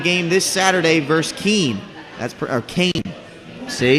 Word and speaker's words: Keene: Kane. See, it says pronounced Kane after I read it.